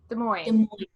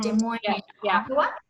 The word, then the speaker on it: Des Moines: Des Moines. Mm-hmm. Des Moines.